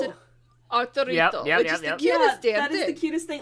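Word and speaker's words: Arturito: ones that he saw as a child, they pronounce it Arurito?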